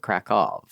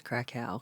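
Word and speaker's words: Kraków: okay yeah it's spelled like Kow but they pronounce it kov Oh I thought it was krackow krackov I yes this is good to know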